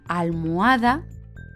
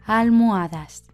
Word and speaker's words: almohada: Pero, ¿qué pasa si empieza por A y acaba en A, pero la tónica no es la primera sílaba? En ese caso, no nos cuesta pronunciarlo, por lo que se quedaría el artículo la, tanto en singular como en plural. La almohada, las almohadas.